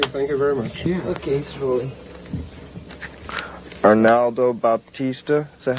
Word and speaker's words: Arnaldo Baptista: okay thank you thank you very much okay arnaldo baptista is that how you pronounce his name that's it where i said